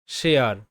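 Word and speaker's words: share: তারপর রয়েছে শেয়ার, শেয়ার, SH তালব্য স, এতে এ, আর তে র সাউন্ড, ইটা কিন্তু সাইলেন্ট থাকছে, মানে এ আর ই এয়ার হচ্ছে,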